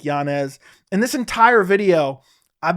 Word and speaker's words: Yanez: it out to me and apparently he actually pronounces his last name janeez but he lets people just call him Yanez because apparently it's just easier because everyone started